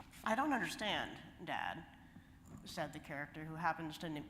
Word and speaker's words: sauna: And I'm using the Finnish pronunciation of the word for sauna, which is sa.